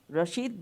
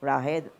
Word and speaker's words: Rashid: where I found that they couldn't pronounce my name properly Rashid became raheed for some reason and